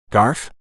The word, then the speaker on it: Garf: G instead of policeman Garf Trey cocked his head to the side your name is Garf rhymes with barf and teased Deputy Lewis